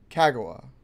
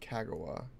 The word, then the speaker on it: Kagawa: Kagawa, probably is how it's pronounced. Kagawa. Kagawa is probably how that would be.